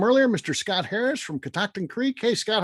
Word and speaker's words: Catoctin: Catoctin.